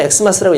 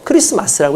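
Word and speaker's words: Xmas: 이렇게 엑스마스처럼 이렇게 하는데 실제로는 엑스마스라고 읽으면 안 되고 말 그대로 크리스마스라고 읽는 게 맞습니다.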